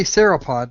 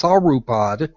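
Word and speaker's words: sauropod: You you say sapod and it's not it's not spelled that way. It's not pronounced that way. It's saupod. Whatever. That's why I don't do dinosaurs. a soropod.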